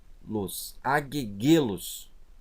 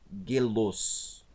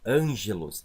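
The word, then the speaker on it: ἄγγελος: Então a pronúncia correta é angelos. Lembrando que o gama aqui, ele não vai ter o som de G. Ó, angelos.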